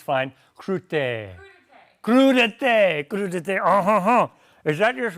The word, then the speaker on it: crudité: All right, and we have, I don't know how to pronounce this French word, crudettes, crudettes, you can yell at me, it's fine. Crudité.